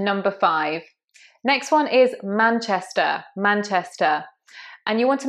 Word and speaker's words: Manchester: Remember, those ERs in English are normally schwa. They're usually an Manchester, Gloucester.